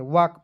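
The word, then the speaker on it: walk: अब देखिए आपको याद रखना है डब्ल्यू ए एल के, तो इसमें एल को साइलेंट रखते हैं, वाक पढ़ते हैं, ठीक है।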